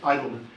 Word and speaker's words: Eidelman: Mr., am I pronouncing that correctly? Idleman, correct. Mr. Eidelman Thank you.